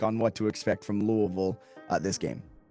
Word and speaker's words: Louisville: So, it's it's it's Louisville. Uh Louisville. There's no Louis.